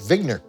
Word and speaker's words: Wigner: vigner professor vigner and he said no I pronounce it vigner and he very much wanted to be an